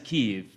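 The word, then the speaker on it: Kyiv: Ukraine, and he said it's always, however you say it, it's got 2 syllables, and it is Kiev. And they will have much better pronunciation than me, obviously, so forgive me sometimes when I try and make it clear there are 2 syllables, if it sounds like a Russian pronunciation, because it ain't.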